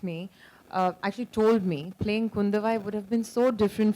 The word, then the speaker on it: Kundavai: So obviously you're playing Princess Kundavi. I hope I got the pronunciation right. Kundavai. Oh, Kundavai. I'm so sorry for that.